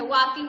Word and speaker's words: walking: Listen बेटा, वॉकिंग नहीं, L silent है. वॉकिंग बोलेंगे.